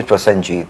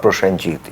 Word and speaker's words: Prosenjit: me about I mean people used to pronounce me prasjit not prashanjit you know that's like